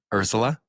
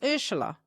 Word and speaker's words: Urzila: Ursula? Yeah, close enough. Ursula. Yeah, so it's Ursula. Ursula. Because Ursula. there's a Z in there. I know. But like my grandmother used to say Ursula, which is the proper way to say it.